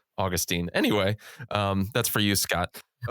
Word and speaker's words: Augustine: By the way, I should correct myself. I said I said Augustine. I should have said Augustine.